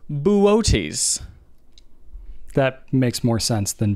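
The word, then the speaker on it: Boötes: and it is the constellation b-o-o-t-e-s like oh booties buddhists booties boots um it's actually pronounced buoties that makes more sense than booty there you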